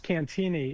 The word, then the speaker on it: Cantigny: It's Cantini. It's a silent G. It's a French pronunciation.